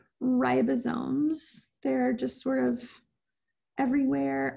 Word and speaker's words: ribosomes: called ribosomes um and you might be tempted to call them ribosomes but the syllable divides after the eye so it's rye ribosomes um i think that's